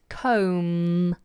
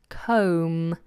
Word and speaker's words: comb: all the time so please try to remember silent B at the end comb comb and a comb is